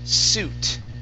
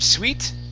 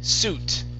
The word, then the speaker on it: suit: This word is pronounced suit. Instead of sweet, it's suit. Suit. Suit. Huh? Suit. So the I is going to be silent there.